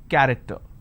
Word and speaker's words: character: each nation its present character. So you see the word character, I have the letter CH and it's pronounced as K.